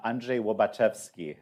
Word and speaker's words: Andrzej Łobaczewski: Uh, well, so there's a man named, uh, Andrzej Łobaczewski, uh, uh, is how you pronounce it in Polish.